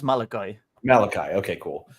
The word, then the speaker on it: Malachi: I think he says Malachi Malachi okay cool I heard someone say Malaki on a stream one I always say Maliki too but yeah yeah it looks like that's how it should be pronounced B on the spell